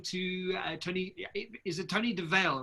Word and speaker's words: Dovale: Is it Tony Dovale, right? I'm saying it correctly. Yeah, Dovale, yeah.